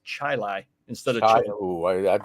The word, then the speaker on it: Chili: And then we got Chili, which is pronounced Chili instead of chili.